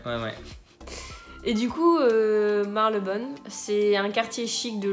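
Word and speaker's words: Marylebone: de métro ou presque c'est également une lettre qui va disparaître ça se dit marc le bol voilà donc en fait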